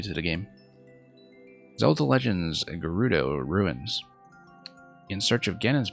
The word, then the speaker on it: Gerudo: think was standardized that it's Gerudo with a hard G. And I still had to adjust to that sometimes. Because I'm so used to the idea that G before E is a soft G.